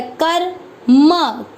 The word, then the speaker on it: कर्म: क आधा र, कर म, कर्म।